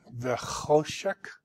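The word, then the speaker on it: וְחֹשֶׁךְ: And the accent in this word is on the cho, vechoshek.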